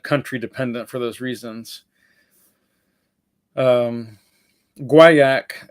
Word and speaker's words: guaiac: dependent for those reasons guaiac is the correct French pronunciation and guy ik I believe is the correct or if I have that reversed at any rate whatever